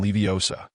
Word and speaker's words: Leviosa: It's when guardian leviosa. The leviosa must be pronounced long and clear.